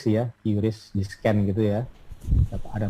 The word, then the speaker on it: QRIS: Terus nomor 6 juga mengenal transaksi cashless ya, dengan QRIS gitu, atau bacanya KRIS ya, QRIS di scan gitu ya.